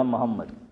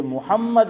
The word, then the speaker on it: محمد: محمد زبر میم پر یا پیش؟ پیش. لیکن آپ نے بولا محمد زبر، آپ نے جو تلفظ کیا حنیف بھائی، آپ نے محمد بولا ہے، تو یہ آپ نے صحیح بولا ہو لیکن آواز ایسی آ رہی. یہ محمد ہے میم پر پیش، لیکن ہم لوگ گجراتی لوگ کیا بولتے ہیں؟